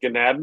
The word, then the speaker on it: Ganaden: Now, for those of you that aren't familiar with Ganaden, it rhymes with Aladdin.